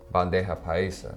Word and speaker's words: bandeja paisa: My favorite meal is the bandeja paisa.